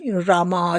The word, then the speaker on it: राम: हाँ, तो एक बार मेरी माँ ने किसी से कहा था, it's not Rama and Lakshmana, the last A is silent, it's Ram, Lakshman.